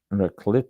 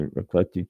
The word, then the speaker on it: Raclette: Ring and Raclette, Raclett. I believe it's a hard C.